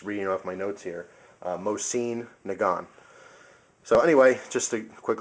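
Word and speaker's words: Mosin-Nagant: these guns uh second thing is I say MOS and theun um because that's kind of how I've heard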